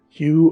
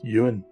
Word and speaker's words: Ewen: of the tale himself Hugh of the little head although his name is spelled e-w-e-n it is not pronounced Yuan although some uins do